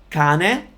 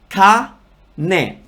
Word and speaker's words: cane: Cane, cane. There's no R because the word dog doesn't have the R, obviously.